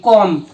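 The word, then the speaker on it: comb: ও এম বি বম সি ও এম বি কম ইয়া বি উচ্চারণ হওয়া নাই কারণ ওয়ান সিলেবুল বিশিষ্ট ওয়ার্ড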